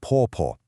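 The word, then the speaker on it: 婆: A wife calls her husband's mother po, pronounced po.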